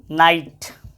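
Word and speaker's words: knight: अब देखो, KNIGST क्या होता है? KNIGST क्या होता है? नाइट, नाइट पढ़ेंगे।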